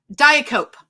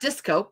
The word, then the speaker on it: diacope: Diacope. Have you ever heard of this word? No. Diacope, diacope. Diacope. I'm going to put it in the chat. Diacope? Not discope. It's not a disco.